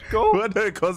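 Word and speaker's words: Kosciuszko: house what were you saying you mean k k Kos k m k CH back me up here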